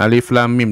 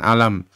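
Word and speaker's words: الم: Alif lam mim, ya, alif lam mim dibacanya alif lam mim, bukan alam, bukan alim, bukan alum, tapi alif lam mim, dibaca hurufnya masing-masing.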